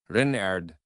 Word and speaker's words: Renard: Renard, with the accent on the Ren.